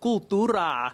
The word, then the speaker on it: Cooltura: The store is called Cooltura.